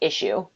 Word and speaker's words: ISSUU: Someone said, have you considered using, is that Isuzu, ISSUU? Not familiar with Isuzu. Or issue, or he said it's pronounced like issue.